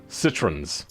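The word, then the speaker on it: Citroën: hydrogen suspension yes over here in england we pronounce citron as citroens with an s weird yeah it does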